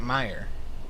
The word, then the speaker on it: Mayer: Honest to goodness, we thought it was Meyer. So it's it may have been spelled Mayer, but everyone pronounced it Meyer.